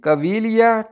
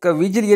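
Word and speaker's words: caviglia: आगे जी कवीलिया टोहनी, कविजलिया नहीं पढ़ देना। ठीक है, ये जो जी है ये इसमें साइलेंट है। ठीक है, ज़रा ध्यान करें, इसको बोलेंगे कवीलिया, कवीलिया बोलेंगे टोहनी को।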